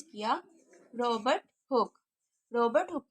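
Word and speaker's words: Robert Hooke: जी बिल्कुल, आपने बिल्कुल ठीक प्रोनाउंस किया, रॉबर्ट हुक।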